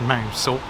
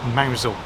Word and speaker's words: Mousehole: Yes, it's not pronounced Mousehole, but Mousehole.